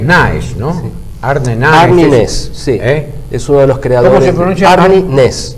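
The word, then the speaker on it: Næss: noruego noruego arne naes Cómo se escribe eso huela n a e s s es nes te dice no na es la a no se pronuncia en sueco parece que no en noruego Y ustedes saben vos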